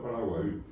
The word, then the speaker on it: Paraguay: Paraguay ya es un nombre guaraní, correctamente pronunciado Paraguay, que significa el río del mar que desapareció.